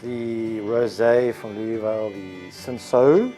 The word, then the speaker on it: Cinsault: And today we're starting off with the rosé from Louisville, the Cinsault, how they would say Cinsault. Very French, but in South Africa they would pronounce it as Cinsault.